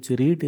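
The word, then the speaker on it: read: टू से तृतीय पुरुष एकवचन पढ़वा इंग्लिश हो रीड रीड र पास्ट पार्टिसिपल हो रेड रीड रेड रेड रेड spelling समान किंतु प्रोनाउंसिएशन उच्चारण हमें रेड करबा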